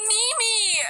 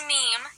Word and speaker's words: meme: I'm not a Mimi. Yes, you are. I'm a Pupinya. You're Mimi. Mimi. Okay. Hey guys, I just googled what a meme was, and it's pronounced meme, yeah.